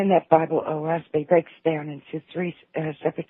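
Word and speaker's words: Oahspe: book several times, that would be how I'd pronounce it offhand. Say it again. Oshpi. Oaspe.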